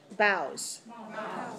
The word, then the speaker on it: boughs: Sometimes we have O-U-G-H and it sounds like like enough, and rough, and tough. So sometimes it has the sound f, but here it has no sound at all. It's totally silent.